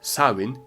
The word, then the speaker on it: Samhain: I know you thought it was pronounced somehow like it's written or something like that, but apparently it's pronounced so in Irish Gelik and sawin in Scottish Gaelic.